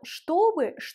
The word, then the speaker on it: чтобы: Écoutez bien et dites-moi où est l'accent tonique. Чтобы. L'accent tonique est sur le O. Un autre point important dans le mot чтобы, la première consonne ch se prononce ch, чтобы.